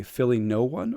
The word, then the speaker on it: Phillyno1: When you say your full handle, right, in your mind, do you say Philly1 or Philly number one?